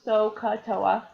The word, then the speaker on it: SOHCAHTOA: But a nice way to remember them is SOHCAHTOA, and that's how it's pronounced, SOHCAHTOA.